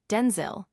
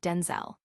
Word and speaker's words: Denzel: that his name is pronounced with a short I sound, Denzil, rather than the more commonly heard Denzel.